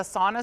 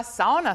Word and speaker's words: sauna: A sauna store, and if you're Finnish, you say sauna. Sauna, yeah, that's. Sauna. I've been corrected many. That's the right. That's the correct pronunciation.